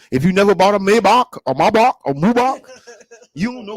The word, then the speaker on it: Maybach: you never bought a Maybach before to know that it's pronounced Maybach from William Maybach.